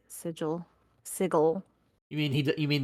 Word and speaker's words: Sigil: Chris Perkin pronounces sigil sigle you mean he you mean the correct way because there's the city of sigle and then there's sigil which is call you